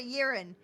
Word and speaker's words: Yeren: for that ring you know I have bad pronunciation it's called a yearin called a urine it's what it's called it's what it's called